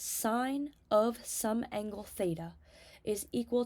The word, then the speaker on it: sin: are three of them the first ratio um is s of theta that's how you read this sign of some anglea is